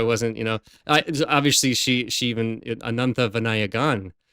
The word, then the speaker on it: Ananthavinayagan: with her, so I wasn't, obviously she even Ananthavinayagan. Right, I had to it's got to get that pronunciation right.